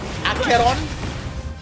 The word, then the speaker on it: Acheron: Oh, it's the way it's spelled. We don't see those words in English. Acheron. You know, the only reason why I'm remembering it is because it rhymes with the word chicharron.